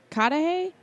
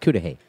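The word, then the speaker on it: Cudahy: cat it Wisconsin Oh kada hey something like that I know what you're I know it's pronounced CUDA hey CUDA hey there we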